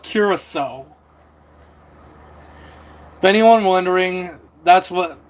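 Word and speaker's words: Curaçao: So you s you it's called curaso if anyone wondering.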